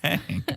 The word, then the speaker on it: Hank: Hank is a hunk. It's not hunk. It's Hank.